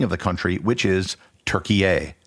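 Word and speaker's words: Türkiye: pronunciation and spelling of the country which is turkey a pronounced t u with an umlaut r-k-i-y-e the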